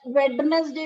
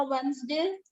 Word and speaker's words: Wednesday: सिमरन Sunday, Monday, Tuesday, Wednesday, नहीं बेटा, Thursday, वेडनेसडे नहीं होता, वेंसडे।